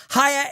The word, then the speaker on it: Haier: Hire is spelled H-A-I-E-R, and we're offering a discount on their amazing products.